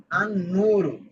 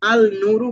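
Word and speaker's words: النور: আনুর ঠিক আছে। আনুরু। এখানে কিন্তু আলনু বলি নাই।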